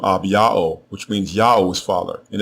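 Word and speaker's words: אביה: The way you pronounce his name is Ab-Ya'o.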